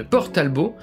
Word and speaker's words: Port Talbot: la ville côtière de port talbot prononcé à la française pour créer le monde